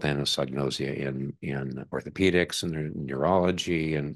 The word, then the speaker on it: anosognosia: There's a psychiatric term for it, which I can now pronounce. Anosognosia, is that right? Anosognosia, mm-hmm.